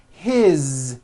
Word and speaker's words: his: good here that is his same thing it also has a voiced Z ending his mom is Mary